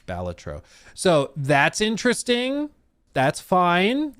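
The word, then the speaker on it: Balatro: You can add balletro makeup, which yes, apparently is the way you pronounce it. Um, I always wanted to say Bellatro, but apparently it's Baltatro.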